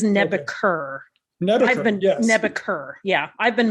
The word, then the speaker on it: Nebuchadnezzar: So I have been mispronouncing it Nebusher the whole time. It is Nebuchadnezzar.